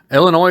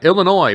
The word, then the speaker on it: Illinois: it with the s the s is silent my friends just to let you